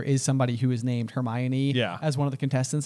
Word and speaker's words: Hermione: chapter where we meet Hermione, we also called Hermione Hermoine for I don't know. Until the movies. Yeah. We had no idea how to pronounce it.